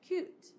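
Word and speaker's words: cuit: spell it c-h-a-i-r and cooked is cute c-u-i-t so charcuterie comes from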